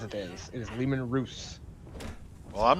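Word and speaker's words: Leman Russ: that stupidly armored troop transport did you say lehman roose yes it's not pronounced lehman russ that is not what german says it is it is lehman ruse well i'm not german everyone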